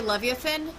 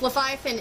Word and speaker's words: Leviathan: I mean, I've heard both pronunciations. Leviathan is probably a little bit more standard, whatever. Leviathan's a little bit easier to say. rather than, because it has fewer diphthongization. Diphthongization with the I just means I'm pronouncing an extra vowel, and I prefer a little bit more simplicity. So, blah, blah, blah.